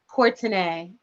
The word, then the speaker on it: Courtenay: religions exposed and you you pronounce your last name how do you pronounce it cortinae okay okay so it's